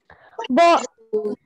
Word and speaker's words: bonjour: One thing that we learn from this word is that we do not pronounce J as J sound. We are not calling it bonjour. Okay? What are we calling it? Bonjour. Bonjour. Jour. Like we say in Hindi, ya say yagye, right?